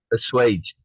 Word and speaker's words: assuaged: more those fears are assaulted this is the pronunciation for this word uh which word the the more those fears are assed assuaged assuaged assuaged okay yes I was remembering that